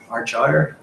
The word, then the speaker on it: Argyre: And the next slide we move on to, we've got Argyre. I pronounced it right.